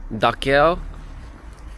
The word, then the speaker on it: Dachau: go to the daow I think it's pronounced daow concentration camp daow is